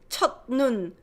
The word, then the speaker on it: 첫눈: It's hard to say 첫눈. 첫눈. Softens, nasalized because of that ni은 that follows 첫눈.